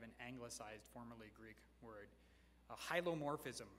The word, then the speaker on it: hylomorphism: Hylomorphism, or it would actually, hulomorphism is another pronunciation you'll hear for that.